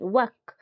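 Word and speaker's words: walk: सुना जाउची कि नहीं वर्क, किंतु एल वर्ड टा सेठी प्रोनाउंस करा जाऊ नाही। डब्ल्यू ए एक सुना एक के सुना जाउची वर्क, डब्ल्यू ए के वर्क, किंतु एल टा सेठी साइलेंट रही जाउची।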